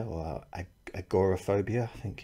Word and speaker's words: agoraphobia: came up in the responses were things like agoraphobia or agoraphobia, I think it's pronounced in America.